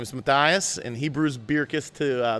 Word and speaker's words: Bircus: i met a guy in 2010 from ghent belgium his name is matthias and hebrews beer kiss to that's the flemish pronunciation but i never correct